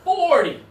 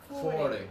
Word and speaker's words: forty: And now here, when it's the bigger number, it's the first syllable. 40. 40.